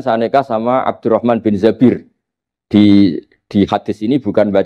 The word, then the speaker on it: Zabir: nikah sama Abdurrahman bin Zabir di hadis ini bukan Mbak Bacanya bukan Zubair tapi Zabir. Abdurrahman bin Zabir.